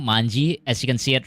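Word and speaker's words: 卍: So yeah, I learned how that this actually is pronounced as manji because of this yaoi way before Tokyo Revengers was a thing.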